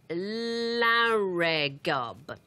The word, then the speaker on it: Llareggub: Well, I suppose if you were pronouncing it in a Welsh way, it would be Llareggub. But if you said it in an English way, it would be Llareggub.